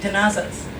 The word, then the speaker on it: Tenazas: Genesis of my name tazas okay it's pronounced if you were castian Spanish then because Philip II had a lisp and so when his